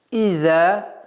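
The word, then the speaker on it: إِذَا: «Иза», буква «зай» межзубная, «за». И ударение в размере 2 огласовок. «Иза джаа».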